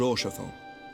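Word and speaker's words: Haurchefant: Which reminds me, Lord Orchefon, if you would be so kind.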